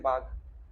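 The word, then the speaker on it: Baugh: बाग बाग बाग, ये अजीब सा इंग्लिश में अजीब सा सरनेम है इनका, वो बाग ही उसको प्रोनाउंस करते हैं, बाग।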